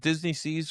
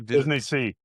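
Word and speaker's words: DisneySea: I'm sorry, is it Disney Seas or Disney Sea? Disney Seas, right? Disney Sea.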